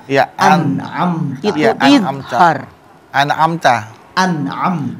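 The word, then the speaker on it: أنعمت: Terus tadi amta. Iya, Amta. itu Iya, idhar. An'amta. An'am. Jelas. An'amta. Bukan amta. An'amta.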